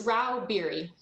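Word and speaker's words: Rauh-Bieri: how do you say your name ma'am it's rau berry thank you uh miss stacy staggs literal lobbyist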